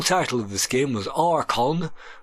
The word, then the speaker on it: Archon: of this game was archon pronounced with a K the light and the